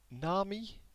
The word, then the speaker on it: Nami: Nami. Yeah, that's what you should pronounce it as.